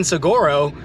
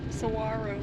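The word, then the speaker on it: Saguaro: Also, I guess I've been saying Sigoro incorrectly. Sawarro. Sawarro. Sawarro. I've been saying it wrong this whole time.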